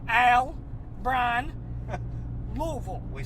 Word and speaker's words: Louisville: Not Louisville, Al, Brian, Louisville.